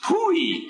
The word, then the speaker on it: POEE: That's abbreviated POEE and pronounced POOEE.